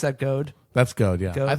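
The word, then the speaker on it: Gode: Would you pronounce that Goad?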